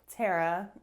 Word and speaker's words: Tara: Tara. Yeah, but in England, we usually pronounce this name a little differently to how you would pronounce, for example, Sarah.